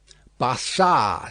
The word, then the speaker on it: Barsad: "Bassard," said Defarge, making it French by pronunciation. But he had been so careful to get it accurately that he then spelt it with perfect correctness. "Barsad," repeated Madame.